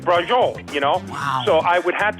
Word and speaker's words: braciole: It isn't bracioli is braciole, Wow.